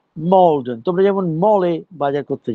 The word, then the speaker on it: Maldon: লেখা থাকে ম্যালডন, কিন্তু উচ্চারণ হয় মলডন.